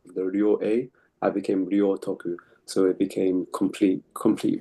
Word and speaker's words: Ryōtoku: me her part the Rio a I became Rio Toku. So it became complete complete virtue. And thank you for pronouncing that name as well because I was not quite sure exactly how to pronounce your name.